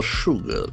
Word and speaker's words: sugar: not mean support for sugar s u g a r the letters s has got sh sound Sugar Sugar e ex